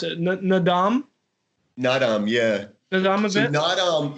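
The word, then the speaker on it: Naadam: I'm not sure how to pronounce it. Nadam? Nadam, yeah.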